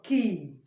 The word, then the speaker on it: key: We pronounce this one key, not que, as some of you may pronounce it. It's key, just like you pronounce K-E-Y, key.